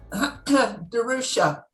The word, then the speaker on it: DeRusha: And how do you say your last name? DeRusha. DeRusha. Is it D-E-R-U-S-H-A? Yes.